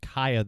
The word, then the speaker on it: Cieha: It's pronounced Cieha, though.